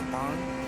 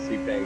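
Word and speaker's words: Sepang: It's pronounced Sapang. Yep. C. Sorry. American. Hey, I thought I've been calling Cang my whole life, too.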